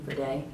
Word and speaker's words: Verde: uh Nest fragrances ver Verde I think that's how you say it v e r d e ver day um and just launched